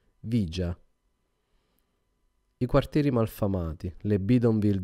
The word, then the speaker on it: villa: di qualche film apocalittico la villa 31 disse il tassinaro pronunciando vigia i quartieri malfamati le